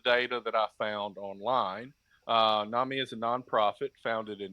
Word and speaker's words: NAMI: with the soft A from the It's NAMI.